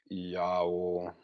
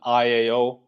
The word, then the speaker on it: IAO: A lot of those letters they're pronounced in a Latin. That's a Latin pronunciation. Okay, so it's not an IAO. IAO. That's how an English speaker would pronounce it. But you pronounce all of those letters in the rituals. You pronounce them in, like you would pronounce Latin.